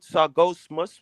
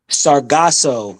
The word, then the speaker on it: Sargasso: Sargosmus? What? Sargasso, the Sargasso. Sargasso Sea, the How do you Sargasso spell it?